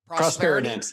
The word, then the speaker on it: Prosperident: Prosperident, yeah, 3 syllables.